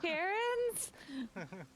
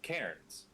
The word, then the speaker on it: cairns: I was like, are you saying Karens? Cairns, I don't know how to pronounce Cairn. it, but you know those cairns. Cairns. I googled it this morning because I didn't know that's what they were called.